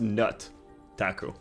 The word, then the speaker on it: Nutaku: I think it's pronounced Nut Taku. Just my guess.